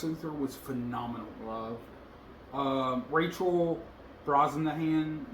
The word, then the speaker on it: Brosnahan: Um, Rachel Brosnahan, not sure if I'm saying it right, as Lois Lane.